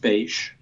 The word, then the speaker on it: Bache: your website URL book my last name is pronounced beige there people can contact